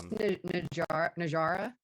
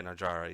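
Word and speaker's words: Najarra: Najera, right, is how you say her name. It's Najara. Yeah, Najara.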